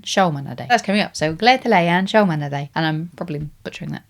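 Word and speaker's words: Gleðilegan Sjómannadag: Apparently, the way you say it is Gleðilegan Sjómanadag.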